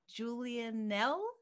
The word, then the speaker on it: Julianell: And we are talking this week to the lovely Julianell. Did I say it right? Yes. Yeah, you nailed it. Yes, Julianell, I yeah.